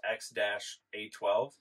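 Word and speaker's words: X Æ A-12: was on say that it's pronounced X-A12. You know how to say it. Yeah. So what's on his birth? X-A12. Oh, okay. That exactly spelled out. X-A-E connected. Yeah.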